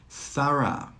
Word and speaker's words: thorough: Thorough, thorough. In all of these words, the GH is silent.